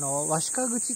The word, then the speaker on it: 鷲家口: 日本狼像についてと、和鹿口って読みますけど、こ